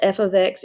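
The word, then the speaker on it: f(x): something's in function notation so remember this is pronounced f of x equals three x plus five if i ask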